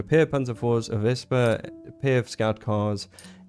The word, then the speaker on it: Wespe: And then lastly, uh the Vesper, which I've been saying Wesper up until this point, but it's actually pronounced Vesper.